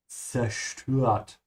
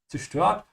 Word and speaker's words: zerstört: And whenever you're going to pronounce it, don't destroy the first letter and pronounce it correctly. It's like tss, yeah? Zerstört. The S is like snake, yeah, not like s. Zerstört.